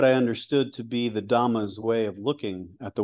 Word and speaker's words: Dhamma: understood to be the Dhamma's way of looking at the world. At the time, I did not know this Pali pronunciation of the more familiar Sanskrit word dharma, referring to the body